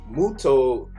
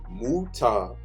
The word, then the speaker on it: Muta: But my Muto, oh, I'm saying his name wrong. Muta, his ability is like a little bit strange to me.